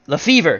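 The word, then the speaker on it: Lefebvre: DJ John 44 says it's the fee Lefevre thank you the B is silent thank you Jim Lefevre that's what I thought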